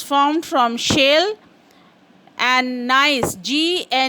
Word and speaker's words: gneiss: Even we learned in metamorphic rocks that marble is formed from limestone, slate is formed from shale, and gneiss, Gneiss is pronounced as gneiss, and it is formed from granite, and quartzite is formed from sandstone.